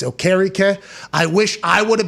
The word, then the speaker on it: Okereke: Now, I believe he has changed his name back to its original pronunciation with his Nigerian heritage. So I believe it's Okereke. I wish I would have been able. Bobby Okereke.